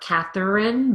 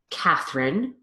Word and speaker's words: Catherine: Emma, Carolyn, Rachel, Janet, Deborah, Samantha, Christine, Catherine, Virginia, Catherine, different spelling, same pronunciation, both with phonemic reduction, not Catherine, but Catherine, Nicole, Pamela, Brenda.